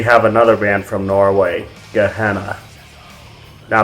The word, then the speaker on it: Gehenna: another band from norway gehenna now their name is just like it's pronounced in the bible and gehenna is a